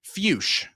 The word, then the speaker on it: Fuchs: It is fuch is how you pronounce that. Troy. So, I do want to say for a little extra context here on given predictions early on, uh, Zach Fus, last time we saw him was also in